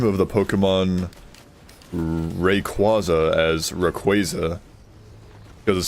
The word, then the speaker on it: Rayquaza: Uh, so forgive me, but uh, uh, I'm pretty sure I've heard like some like the official the official pronunciation as Rayquaza for, you know, the Pokemon that I'm referring to.